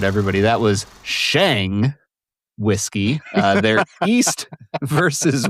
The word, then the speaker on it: SHĀNG: It indicates that the vowel should be pronounced as a long a like mate or cake.